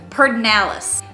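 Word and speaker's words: Pedernales: a burger so this word in texas is pronounced pernalis this word palacious this word is mahaya and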